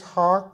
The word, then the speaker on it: hawk: hack hick hawk hawk this is hawk as in hockey but hawk is also